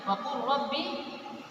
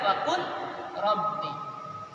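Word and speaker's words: وَقُل رَّبِّ: Maka cara membacanya waqur rabbi, bukan waqul rabbi.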